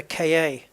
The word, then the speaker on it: Ka: It's a car. It sounds like car.